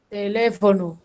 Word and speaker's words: teléfono: Tiene la tilde en le. Tiene el Tele. acento en le.